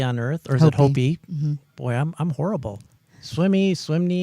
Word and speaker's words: Hopi: street over was Hopi, but I always called it Hoppy growing up. And as I became older and realized I was mispronouncing it all those years, it really got me down.